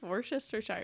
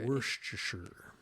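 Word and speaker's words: Worcestershire: and I was like wow it tastes like worest Shire he's like that's cuz I used it because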